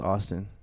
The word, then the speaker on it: AVSTN: it avstian uh avstn but it's pronounced Austin okay so call me